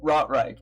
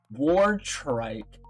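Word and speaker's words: Wartrike: Not Rot Reich. I keep I am so sorry. I am so sorry. I will continue to attempt to say Rot Reich first before ever saying wart trike like it's spelled.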